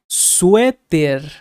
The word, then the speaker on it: suéter: So sweater, suéter, suéter. So you have to put a Spanish accent on this one.